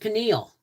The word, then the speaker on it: pineal: It's pronounced pineal, yeah.